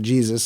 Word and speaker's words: Jesus: quite enough screen time with his character Jesus or he pronounces it Jesus so whatever asked if